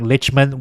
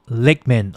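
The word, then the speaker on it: Lichtman: the result must change so I don't like lichman well look I'm just going by results okay like he he's he's right most of the time lickman oh sorry then I must have gotten his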